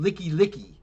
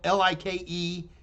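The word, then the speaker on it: Likelike: honolulu is a street called nikki licki expect except it's spelled l-i-k-e-l-i-k-e so all of us hollies foreigners from uh hawaii would always go hey where's like like street and that just gives the native hawaiians a big laugh hey brittany you are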